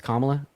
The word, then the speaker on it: Kamala: I should to say her name is pronounced um Kamala saying that to me yeah yeah it's it's kamla um no biggie though